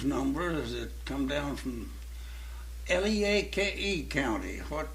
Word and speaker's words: Leake: Well, here's an old blues number that come down from Leake County. How do you pronounce that?